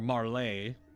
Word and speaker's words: Marlene: Marlene. Or Marley, depending on how French it is. You don't pronounce the L-E.